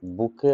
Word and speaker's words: bouquet: এ বুকে of flowers, এটা লেখা থাকলে BOUQUET লেখা থাকলে উচ্চারণটা কিন্তু বুকে হয়, তাহলে এক গোছা ফুল।